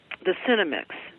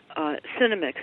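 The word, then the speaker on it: Senomyx: some interest in how people can locate the Cinemix that we have on the website. Cinemix is spelled S-E-N-O-M-Y-X.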